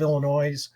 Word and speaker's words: Illinois': the corrupt state of Illinois, and I'm saying Illinois apostrophe S, not mispronouncing my own state's name, of Illinois' arcane election